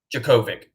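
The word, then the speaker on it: Jurkovec: now oh this is how you say it jerkovic jacovic there you go thanks chris uga wins by 17.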